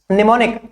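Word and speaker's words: mnemonic: Next word देखिए आप लोग को निमोनिक। एम प्रोनाउंस नहीं करते यहां पे।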